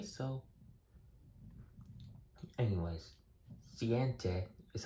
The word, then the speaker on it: siete: Anyways, siente is how you say 7 in Spanish.